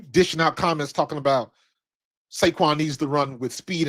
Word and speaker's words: Saquon: But I It's funny because I don't I hate when people say it like that because that I'm sorry, not Seaquin.